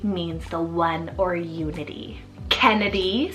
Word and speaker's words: Kennedy: sweet and AC means the one or Unity Kennedy spell k-e-n-n-e-d-y Kennedy this is another one just like Sadie